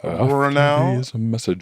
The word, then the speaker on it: Brownell: It's Brownell. Brownell. How do you pronounce Julia Julia's last name?